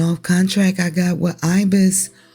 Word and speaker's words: Ibis: contract I got with Ibis or ebis as it's pronounced in meta go over to ebis